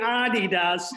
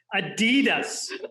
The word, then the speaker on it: Adidas: it's good for adidas and we're pronouncing that correctly adi does not the americanized version of adidas i'm not the european